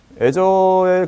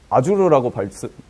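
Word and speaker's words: Azure: 애저의 그 장점은 한 가지 말씀드리자면 그 아주르라고 발음하지 마시고요. 애저라고 하시요. 예, 아주르 아닙니다.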